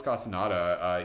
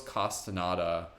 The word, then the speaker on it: Castaneda: welcome so Carlos Castaneda Carlos Castaneda CAS T aan e da so write that down for those of you who need that again cas ta n e da carlos castaneda it's spelled how it sounds so even if you